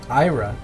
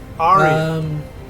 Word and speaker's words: Arya: When Ira, what is it? Ira, Ira. How do you say it? Arya. What's Arya? There you go.